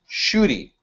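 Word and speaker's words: Schuette: But we have another case called, it's pronounced Shooty, rhymes with duty.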